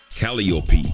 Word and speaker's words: Calliope: Calliope, Clio, and Euterpe. Yeah, that's how you pronounce them.